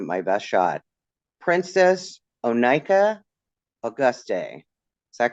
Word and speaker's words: Auguste: Princess O'Nika Auguste. Is that correct? It's Auguste. You got the middle name right, but it's Auguste. Princess O'Nika Auguste.